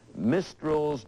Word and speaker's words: Mistral: movies, including Princess Daisy and the 1983 book Mistral's Daughter. Bill? Yes? That's pronounced Mistral.